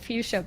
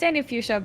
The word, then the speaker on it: AnnieFuchsia: It's AnnieFuchsia, by the way. No. Yeah. It is? Oh, okay, I pronounced it German.